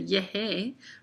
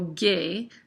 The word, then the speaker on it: llegué: Llegar, if we had GE, it would say it like a sound, and we don't want to say yehe, right? And so we add a U in to make that G a hard U.